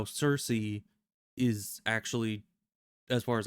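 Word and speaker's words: Circe: kind of like how Cersei is actually as far as I know in Greek pronounced Kirky because the C isn't a softer sound it's more of a hard C at least that's what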